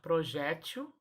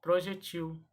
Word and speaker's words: projétil: olhadinha no quadrinho e eu posso falar projétil ou projetil as duas formas são corretas projection ou projetil que